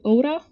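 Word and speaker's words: Oura: But so has anybody heard of a ring called Oda? And this is now the Finnish way that I'm pronouncing it.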